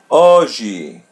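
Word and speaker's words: hoje: Oie. Oie. Repeat part after part. O G O G O. O. As you see the H is silent. We're not going to pronounce it.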